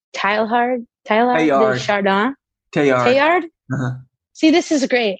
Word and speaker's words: Teilhard: Teilhard?